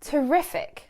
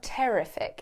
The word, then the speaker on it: terrific: Terrific. Be careful on the pronunciation of this one. It's not terrific, it's terrific.